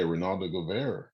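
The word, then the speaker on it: Reynaldo Guevara: Detective Ronaldo Guevara. Am I saying it right? Yeah, yeah, Ronaldo Guevara.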